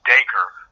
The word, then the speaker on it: Dacre: But it's actually Dacre, like Dacre. An acre of land with a D slammed in front, which it came around in